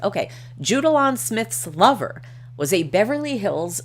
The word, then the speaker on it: Smyth: woman named Judalon Rose Smith, pronounced Smith because it's spelled S-M-Y-T-H, so it's Smith, not Smythe, was living out her